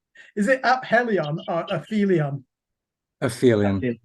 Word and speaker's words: aphelion: So when we get to track number 2, correct me on the pronunciation. Is it Aphelion or Aphelion? Aphelion.